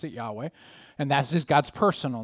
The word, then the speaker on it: Yahweh: capital letters It's the tetragrammatin but it you'd pronounce it Yahweh and that's just God's personal name but the